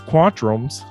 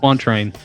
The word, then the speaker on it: quatrain: Some of these Q word poems, whatever the fuck it is, quantrums. Is that how you say it? Quatrain.